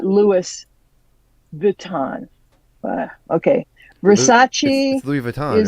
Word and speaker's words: Versace: this one wrong Versace the correct pronunciation is verace not Versace so I got that